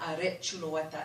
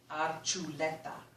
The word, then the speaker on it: Archuleta: But I guess, you know, to Hispanicize it to Spanish language, not the Basque language, say, no, it's not Archuleta, it's Archuleta, and get rid of kind of the loeta sound.